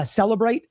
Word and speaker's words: Cellebrite: So, Cellebrite is like a program that they download to the phone, and it tells you The e is silent.